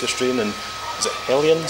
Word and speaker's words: Hellions: Volumes, The Case of Strain, and is it Hellions? Hellions, yes. Yeah. So make sure I pronounce that.